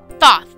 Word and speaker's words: Thoth: Their teacher is another god, Thosis, something like that. They don't say his name very often. Thoth.